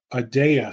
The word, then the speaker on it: Aadya: episode today with rafhael matone the CEO of adaa security that's how he pronounces the company and if you are interested